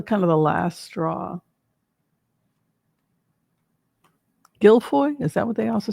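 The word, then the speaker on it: Giuffre: Gilfoy. Is that what they also say? Gilfoy. Virginia Gilfoy. I guess it depends on if it's the French French or the English pronunciation, right?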